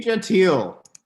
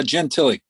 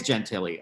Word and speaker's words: Gentilly: i'm here in gentile is it genteel or gentilly uh jen tilly it is gentilly okay so i've been pronouncing it wrong all this time it's okay just as long as it's not gentile i'm okay okay uh